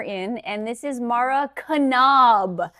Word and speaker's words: Knaub: Yeah, and I think I think what I understand is half of my husband's family pronounces the K and the other half don't.